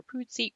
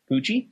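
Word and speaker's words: Pucci: Um Oh, and it stars Lou Taylor Py. Oh my god. Poochie. Thank you.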